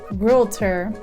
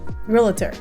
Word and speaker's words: realtor: me that um that a lot of people say realtor and there's no i in realtor so with that said